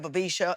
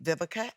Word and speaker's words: Vivica: me with that because growing up uh people couldn't pronounce my name i was my vika vivisha everything but biblica okay and so i was